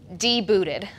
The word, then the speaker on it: debuted: okay we practice this we know the T is silent here we go my brain beaming proudly d booted because sometimes you see